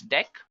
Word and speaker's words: deque: It is written as d q, but we can pronounce this as deque. Now, talking about deque, what actually it is used for? So, deque, pronounced as deque, is an optimized list to perform insertion and deletion easily.